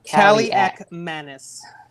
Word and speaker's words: Kaliakmanis: How do you pronounce it? Kaliakmanis.